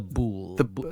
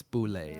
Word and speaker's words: Boulé: The Boule. Actually, sorry. Boulé. It's Boulé is pronounced.